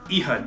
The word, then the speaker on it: Ehud: so far is Ehud I've heard that pronounced a couple different ways but uh I'm just Ehud eood Ehud yeah that's what we're going to call him uh so like